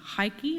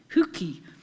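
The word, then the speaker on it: hygge: denmark they have one i think it's pronounced haiki or huki and it's the same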